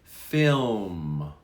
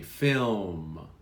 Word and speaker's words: film: british say autumn finally film you do pronounce the film slight l very slightly film film very good